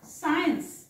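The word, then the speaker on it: science: होत नाही हा वाचायचा सीन तसाच हा बघा सायन्स सायन्स हा वाचायचा आहे सायन्स सायन्स क नाही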